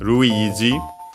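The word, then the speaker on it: ルイージ: Uh but yeah, in this case we have uh Ruiz. Uh notice that uh I can show it again uh the long uh vowel uh the R uh Japanese R instead of L.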